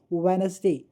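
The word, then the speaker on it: Wednesday: Silent letter यहां देखिए इस वर्ड को आप क्या पढ़ेंगे वेडनेसडे देखिए क्या पढ़ा वेडनेसडे व नस डे हमने क्या नहीं पढ़ा डी तो ये जो वर्ड हुआ डी ये यहां पर साइलेंट लेटर है सॉरी लेटर जो है डी साइलेंट लेटर लेटर ऐसे ही इसको पढ़ो।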